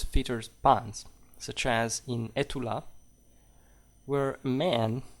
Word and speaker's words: Estula: Some stories feature puns, such as in Etula, where a man, so it's spelled Estula, right? You know, and a man calls out his dog Etula, which of course in French also means "Are you there?"